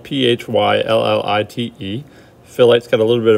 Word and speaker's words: phyllite: four is philite philite is pronounced fill light but it's spelled p-h-y-l-l-i-t-e philite's got a little